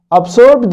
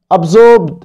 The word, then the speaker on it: absorbed: absorbed هنا برضو كمان can be plus past participle مبني المجهول. خد بالك ان احنا لما ننطق بريتش بريطاني ما بننطقش الار، فنقول ايه؟ absorbed، absorbed يمتص into the blood، تمتص